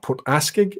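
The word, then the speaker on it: Port Askaig: Good to see you, Thomas, saying Port Askeig, or Port Askeig, if you want to pronounce it like an Eilach.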